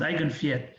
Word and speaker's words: Eigenwert: Well, you pronounce Eigenwert, but anyway, this is how you pronounce Eigenwert, which means proper value in German.